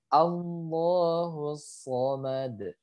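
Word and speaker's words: الصَّمَدُ: Kemudian yang sama dal ketika sukun karena waqaf, karena berhenti dia harus dipantulkan. Jadi bacanya Allahus Somad.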